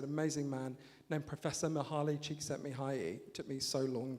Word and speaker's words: Csikszentmihalyi: the phrase, an amazing man named Professor Mihaly Csikszentmihalyi.